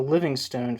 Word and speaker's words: Livingstone: Hirsch has called the Livingstone formulation, referring to former London Mayor Ken Livingstone. Is it pronounced Livingstone? It's Livingstone, but I think it might be pronounced. I think it's pronounced Livingston.